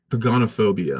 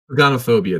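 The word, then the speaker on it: pogonophobia: It's pagonophobia. Hmm. Pagonophobia is a fear of beards. Here's Google telling you how to pronounce it. Yeah. Did you hear it? Yeah. I heard something. Yeah, it was pagonophobia.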